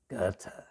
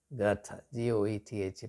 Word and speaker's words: Goethe: And the great German philosopher, poet, novelist, dramatist, Goethe, G-O-E-T-H-E, pronounced Goethe. Or in pure German, I think it's pronounced as Goethe. Difficult to pronounce, Goethe.